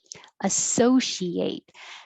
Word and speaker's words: associate: Associate.